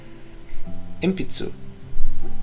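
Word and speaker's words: 鉛筆: Inpitsu. For pencil. It's a bit of a mouthful, so listen to the pronunciation a few times and practicing it slowly.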